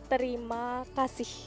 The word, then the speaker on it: terima kasih: Thank you is terima kasih.